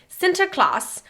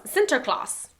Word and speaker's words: Sinterklaas: In the Netherlands, Sinterklaas... Ooh, Why'd you say it like that? Because it's Dutch. The Dutch version of Santa Claus. Sinterklaas.